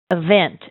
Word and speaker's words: event: right yeah and uh remember the uh event is stressed on vent Event Event good very very nice